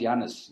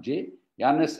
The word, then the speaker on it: Jannes: two names are actually egyptian names janus actually pronounced janus not jay jannes and ambrose egyptian names according to bible scholars